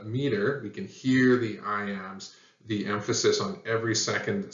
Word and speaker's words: iamb: foot it's called an I am that b is silent and the describing word